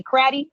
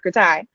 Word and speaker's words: CRATI: Some of y'all decided to say Cratty and some of y'all say Kratai. I've decided to go with Kratai. Cratty sounds weird to me.